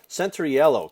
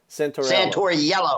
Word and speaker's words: Santoiello: Santoiello, correct? Yeah, it's easy, Jerry. All you got to do is say Santor and then the color yellow. Santoiello.